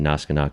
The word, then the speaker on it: NASGNAK: I think I would pronounce it Naskanak, but if I say it real fast, people might not know how to spell it.